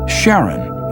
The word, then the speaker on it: Charon: Christie suggested the name Charon after the ferryman of Pluto's underworld in Greek mythology, but preferred to pronounce it Charon, more like his wife's name, Charlene.